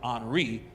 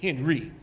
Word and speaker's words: Henri: Now his name is pronounced Henri, but most of us say Henry Nouwen.